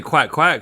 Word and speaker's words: coin coin: they don't say quack quack for a duck.